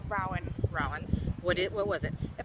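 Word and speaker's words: Ruadhan: from my friend Rowan, and it's spelled in the Gaelic way. So it has an unnecessary D and an H and A's and a U. Why don't you tell them how it is spelled? R-U-A-D-H-A-N. Okay. So it's Rowan.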